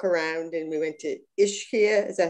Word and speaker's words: Ischia: So it was kind of interesting for me to walk around, and we went to Ischia. Is that how you pronounce the island?